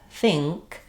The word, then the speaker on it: think: So in a word like think, this letter N is not saying the n sound, but rather the sound.